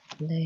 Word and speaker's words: 你好: two syllables, right? And 你好，靚女. Leho.